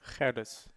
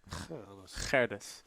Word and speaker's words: Gerdes: How do you say that name in Dutch? Gerdes. Gerdes. Gerdes.